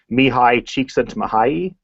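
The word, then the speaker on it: Csikszentmihalyi: been researching this is Mii CHS mahay and that's how you pronounce the name there I put it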